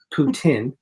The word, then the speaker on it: poutine: Canadian national dish dish it is called poutine is how you pronounce it that doesn't sound right